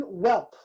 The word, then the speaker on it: whelp: Bone whelp. Whelp. That's how you pronounce it.